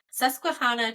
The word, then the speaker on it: Susquehanna: So south of the city of York in Pennsylvania, highway officials chose this, I looked up how to say this, Susquehanna Trail.